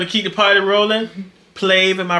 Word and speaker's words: Plave: Plave, am I pronouncing that correctly? Yes. Plave is the group.